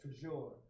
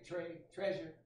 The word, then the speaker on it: Tre'sure: You know, it's spelled T-R-E apostrophe S-U-R-E, and you would probably say that Tre'sure. But most people, Can I call you Tre? Yeah. They say Tre'sure.